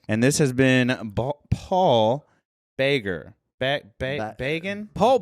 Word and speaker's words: Bragin: And this has been Paul Braggen. Bragin? Paul Bragin. The way I remind people, it's pronounced like Reagan. It's pronounced like President Reagan. It's pronounced like President Reagan with a B in front.